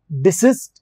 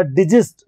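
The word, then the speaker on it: desist: डिसिस्ट या डिजिस्ट दो इसके प्रोनाउंसिएशन होते हैं, डिसिस्ट के बाद भी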